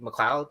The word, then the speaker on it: McLeod: How do you pronounce it? McLeod, right?